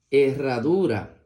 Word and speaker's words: herradura: la siguiente palabra dice la H con la e suena e la doble R con la a suena más fuerte ra la d con la u suena du y la r con la a suena ra e ra du ra Herradura muy bien Ahora vamos